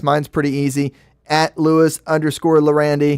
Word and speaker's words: Llerandi: pretty easy at Lewis lorandi those are two L's and two L's not an I just a one of them is silent which one Spanish is yandi you know yeah drop